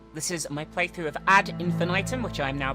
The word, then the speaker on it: Ad Infinitum: you're doing well this is my playthrough of AD infant item which I'm now pronouncing correctly this is a psychological horror game